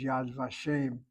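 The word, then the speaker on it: Yad Vashem: And it's not unusual for the vav letter as I think I told you a number of times when the vav letter is affixed to a word that the accent is on the first syllable as in the phrase yad vashim.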